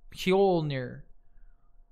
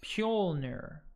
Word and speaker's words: Mjolnir: It's pronounced Mjolnir. It's pronounced Mjolnir.